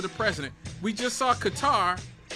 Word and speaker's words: Qatar: We just saw Qatar, which I like to pronounce like it it rhymes with guitar.